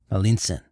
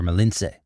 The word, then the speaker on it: Malintzin: Malintzin, or Malintze. The Spanish couldn't pronounce this, so they called her Malinche.